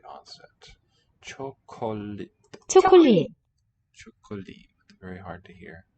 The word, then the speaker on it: 초콜릿: 초콜릿, Chocolate. Very hard to hear. So here with that s letter, shiot, will be pronounced as a t, but here, 초콜릿, not really detectable.